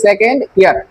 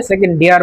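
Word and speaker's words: second year: আর এটা সঠিক উচ্চারণটা হবে সেকেন্ড ইয়ার। সেকেন্ড ইয়ার, সেকেন্ড ইয়ার মানে হচ্ছে দ্বিতীয় বর্ষ, কিন্তু ম্যাক্সিমাম ক্ষেত্রে অনেকে উচ্চারণ পর থেকে এটাকে সেকেন্ড ইয়ার না বলে সেকেন্ড ডিয়ার বলে ফেলে।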